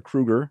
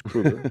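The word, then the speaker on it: Kroeger: and why don't you and I with Chad Kroger or Krueger sorry it's Krueger from nickel it is it's pronounced Chad Krueger it's Chad Krueger I saw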